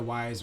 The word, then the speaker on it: Ys: love to jump inside the wise or yeez how we pronounce it and i would love